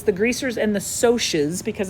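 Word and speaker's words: Socs: the book and say the greasers and the socks nope it's the greasers and the socials because it's it's short for socials um the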